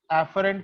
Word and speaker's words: afferent: Afferent का pronunciation देखना, afferent.